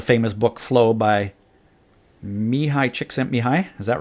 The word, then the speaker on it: Csikszentmihalyi: I read the famous book flow by Mihai Csikszentmihalyi is that right Wow you get an award for pronouncing that right yeah but you know and